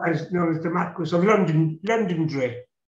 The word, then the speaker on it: Londonderry: And then London London Londonderry, you know, the Marquess of Londonderry is known as known as the Marquess of London Londonderry. It's pronounced Londonderry.